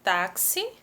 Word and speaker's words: táxi: Táxi, né? Ela é a penúltima, tá na sílaba tônica no tá e termina com i.